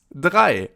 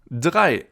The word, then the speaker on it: drei: And the next one sounds pretty similar. It's drei, 3, drei. So zwei means 2 and drei with a DR means 3, drei.